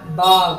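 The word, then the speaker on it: बाघ: 'பாக்' என்பதைத் தமிழில் அப்படியே படித்தால், 'பாக்' என்றுதான் வரும். அதனால்தான் நான் ஆங்கில உச்சரிப்பை மேலே எழுதியுள்ளேன் . 'Ba' என்று எழுதப்பட்டிருக்கும் இடத்தில் ' Ba' என்ற ஒலியுடன் படிக்கவும். 'Ik' என்பது தமிழில் எழுதப்படுவதால், அதன் மேல் 'GH' சேர்த்து 'Bagh' என்று ஆக்கியுள்ளேன்.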